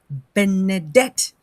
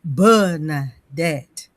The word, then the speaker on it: Benedict: But when it comes to my own name, uh since I noticed that a lot of people don't know how to pronounce Benedict, they in their mind they say Bernette.